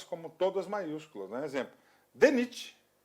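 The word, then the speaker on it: DNIT: Exemplo, DENIT. Ó, DENIT. O que é mistura simples, né? D, você falou separadamente. Aí, ó. O D, pronúncia separada. Ok? NIT, conjunta.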